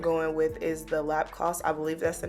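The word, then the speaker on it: Lapcos: I'm going to go in with is the lap cost I believe that's the name of it it's spelled l-a-p-c-o-s um pink Essence micro serum mist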